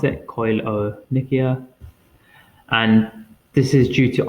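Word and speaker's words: koilonychia: Nikia or Nikas um and that's how you pronounce it coil o Nikia and this is due to iron def deficiency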